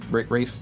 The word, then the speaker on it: Ralph: but we are hanging out with our boy Ralph Fins Rafe Rafe f Ray Fines Ralph Fine pronounce his name the horribly wrong I mean it with with love and respect cuz he's amazing.